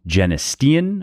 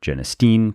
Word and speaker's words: genistein: plant and soy contains two of these molecules genestean or genistein pronounced either way and deidsen or also pronounced